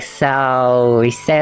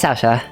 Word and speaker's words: Saoirse: When I first pronounced his name, I thought it was like Saoirse or something, but it's Saoirse.